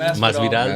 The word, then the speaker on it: Masvidal: How do you pronounce it? Masvidal.